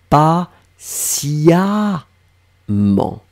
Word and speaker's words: patiemment: seront transformés en amendes on écrit eux mm ent mais on prononce comme si c'était un as pas cia mans donc vous voyez bien qu'on écrit sur votre écran t é e mm ent mais je vais me prononcer pas cia cia siassia mans ok je lai regarde